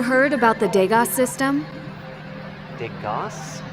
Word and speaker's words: DEGAS: DEGAS? as in the painter?